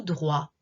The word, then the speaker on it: droit: allé tout droit tourner à droite allez tout droit continuez tout droit donc droite on prononce bien le thé droite allait tout droit